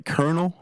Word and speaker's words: Colonel: Colonel. Why is it spelled like that? Who signed off in the Webster dictionary and said, "You know what? You know what's going to mess them up? Take the R out. Put a L in there.